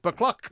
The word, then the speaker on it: Buccleuch: They couldn't explain because it's spelt, with all those EUs and ACHs. Buccleuch.